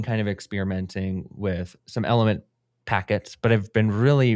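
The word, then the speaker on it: LMNT: Um, but it's pronounced element.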